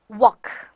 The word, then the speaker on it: walk: 이 L 발음을 조금이라도 발음을 하려고 하시는 분들이 많은데 발음하지 마세요. 발음하시면 오히려 R 발음으로 들리시는 경우가 많거든요. 그냥 walk, walks, walked, walked 이렇게 L 발음 하지 마시고요.